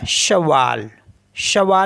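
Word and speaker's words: cheval: ई वी ए एल तो ये हो गया शवा शवा मीस होता है हॉर्स और एफ ए सी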